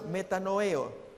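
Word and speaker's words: μετανοέω: La otra palabra se pronuncia metanoeo, que es un cambio de convicciones, cambio de mente, un pesar con un profundo cambio de comportamiento, no de simple opinión.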